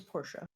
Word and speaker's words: Portia: P-O-R-T. Ah, with a T. Oh. Like I said, I am an American, so I pronounce things American. So I do apologize. I think you said it completely right. I just had an SH there instead of a T.